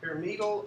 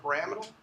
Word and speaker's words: pyramidal: Okay, and you can pronounce it pyramidal or pyramidal.